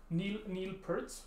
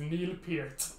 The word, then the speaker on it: Neil Peart: like people is like actually it's Neil Peart, but everyone just calls him Neil Peart anyway.